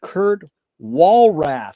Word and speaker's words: Kurt Walrath: It's an honor and a pleasure to be here with Kurt Walrath. Is that the correct way to pronounce it, Kurt?